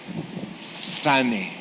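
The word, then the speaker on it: שָׂנֵא: es una palabra hebrea sane sane así como se oye así se escribe s que significa aborrecer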